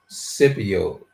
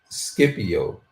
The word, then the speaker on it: Scipio: Elaborate on Cypio. Scipio.